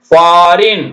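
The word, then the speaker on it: foreign: க்கு ஒளி இல்லை அடுத்தது ஃபாரின் பாருங்க ஃபாரின் எப் ஓ பா ஆர் இ ஐ ரி இங்க கூட இக்கு சத்தம் இல்ல தான் ஆனா நம்ம இங்க ஜி கொடுத்திருக்கோம்னா ஜி மட்டும் போடுறோம் பா ரின் பாரின் பாரின்னா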